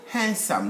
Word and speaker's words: handsome: gentleman will be called handsome not handsome there is no hand there we write d we don't pronounce it i'm going to visit